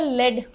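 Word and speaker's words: lead: ये वर्ड है एल इ ए डी। इसके दो प्रोनंसिएशंस होते हैं। एक तो होता है लेड। पेंसिल की लीड होती है।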